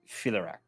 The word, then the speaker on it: Filaract: So it's phylactery without the re at the end.